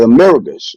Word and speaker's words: Americus: I think if I'm pronouncing it right, Americus.